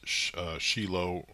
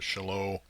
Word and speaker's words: Shiloh: So it's typically pronounced Shiloh or Shiloh, or pronounced by some Shiloh.